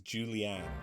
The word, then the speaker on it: Julianne: Her name is Julianne. I'm presuming that's how it should be pronounced rather than Julian.